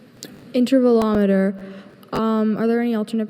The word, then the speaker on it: intervalometer: Intervvelometer. Um, are there any alternate pronunciations?